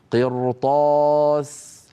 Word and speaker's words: قرطاس: نزلنا عليهم كتابا في قرطاس قرطاس قرطاس قرطاس هنا الراء نطقتها مفخمه لما لانها ساكنه كما نرى وقبلها مكسور وهو القاف وبعدها حرف استعلاء غير مكسور وهو الطاء كذلك الامر في الكلمه